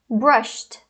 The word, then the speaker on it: brushed: Brush, o sh é uma consoante não vozeada, então vai ficar brushed, brushed, com som de T mesmo.